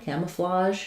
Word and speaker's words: camouflage: The letter A says the sound, camouflage. So that is does remain from the French. And then the GE is going to say the J sound. So I would write this as camouflage. So I write the J sound with a ZH because it's the same mouth position I have for the SH sh sound. It's just that my voice is on J.